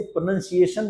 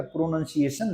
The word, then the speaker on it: pronunciation: लोग को ध्यान रखिएगा इसे प्रोनंसिएशन बोलना है प्रोनंसिएशन या प्रोनंसिएशन नहीं बोलना है प्रोनंसिएशन आपको पता ही